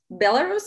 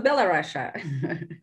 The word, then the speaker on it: Belarus: Belarus or Belarus? That's a good point, actually. I think you can say both. Yeah, I think they're equally good as far as I know.